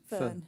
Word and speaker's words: Föhn: How do you pronounce it? Föhn.